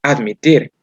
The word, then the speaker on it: admit: No es como que lo dijéramos en español, admitir, que la mayor fuerza de voz la tenemos en la primera sílaba, admitir. Pero en inglés no es así, es admit.